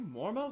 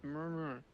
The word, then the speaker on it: Murmur: Are you Mormo, the Void Scent? There it is. You're not pronouncing it right. It's murmur.